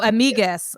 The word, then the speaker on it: amigues: Is amigues? Or amigues. Oh, amigues. Because the U is silent in Spanish.